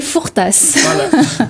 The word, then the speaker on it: Fourtas: et Eddie à miel le S se prononce à la fin et dit à miel Fortas bonsoir donc Adeline elle